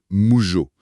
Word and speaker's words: 無常: D'abord, on a mu qui se dit juste mou comme en français. Tout à fait. Et ensuite, il y a le jo qui se prononce en fait Jio un peu à l'italienne, genre comme dans le mot jorno avec un haut très long. Voilà, donc ça donne moujo.